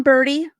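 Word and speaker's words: Berti: so you have John birdie see this is tough because they pronounced the names the same even though one is b r d and the other one is b r oops b r ti so yeah so you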